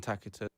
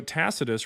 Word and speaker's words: Tacitus: Look at the historian Taka. That's not how you pronounce it. 17 AD. Okay. And and this shows that you haven't done any research yourself. So, Tacitus writing in 116, what does he uh what